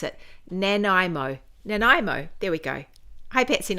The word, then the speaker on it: Nanaimo: She said how I pronounce it. Nanaimo.